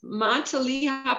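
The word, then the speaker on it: Matilija: It's Montelia poppy. It's spelled M-A-T-I-L-L-I-J-A, I believe.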